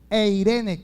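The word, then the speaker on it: εἰρήνη: En el Antiguo Testamento se dice Shalom, pero en el Nuevo Testamento se escribe Eirene, así como se escucha, Eirene, con E al principio, Eirene.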